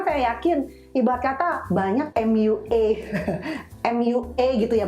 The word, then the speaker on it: MUA: Karena saya yakin ibarat kata banyak MUA, MUA gitu ya bacanya ya.